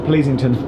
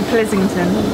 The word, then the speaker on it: Pleasington: We've learnt in the last 30 seconds that this is not Pleasington. Which displeases me. It's actually Pleasington.